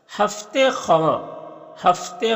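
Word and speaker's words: हफ़्त ख़्वाँ: क्या कहते हैं यखबस्ता हफ्ते खफ्ते ख इसे पढ़ेंगे हफ्ते ख वाऊ नहीं पढ़ते साइलेंट है।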